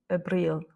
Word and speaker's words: abril: Et donc, dans les deux cas, de toute façon, l'accent tonique se fait sur la dernière voyelle. Abril.